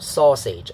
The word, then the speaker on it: sausage: then pitch pattern, so stressed syllable falling on the first syllable, so it's da da. The second syllable is unstressed and has a lower pitch. So this thing is called sausage.